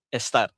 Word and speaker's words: estar: Ha dia bukan abla bukan. Ha bukan abla kamina ataupun est bukan. Dia kena sebut ablar, kaminar, estar. Okey. R tu kena bunyi.